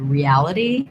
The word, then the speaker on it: reality: So reality, 4 syllables. So re-al-i-d. In the dictionary, second syllable stress, al-li-d. So in the dictionary, you'll see a T, but we typically as Americans do a flap here. Sounds more like a D, reality.